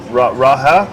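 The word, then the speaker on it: Raohe: Now, please forgive me, Leo, for my pronunciation, but it's the Raha. Yeah, Raha night market. Your pronunciation is perfect.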